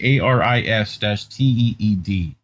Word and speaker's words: Aristide: And Aristide, ARIS-TEED, is how it's supposedly pronounced.